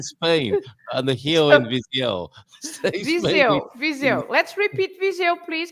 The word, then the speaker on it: Viseu: The S between the two vowels, the I and the E, becomes a Z sound, right? Okay. And then the E and the U, it's like when you say I. How do you say I? L. Ew. So it's exactly the same. It's exactly the same sound.